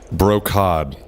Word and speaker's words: brocade: I never know how to pronounce that word. Brocade. Oh, it's brocade. Yes. Okay, thank you. I believe. I could sure be if wrong. It was a hard C or a soft C.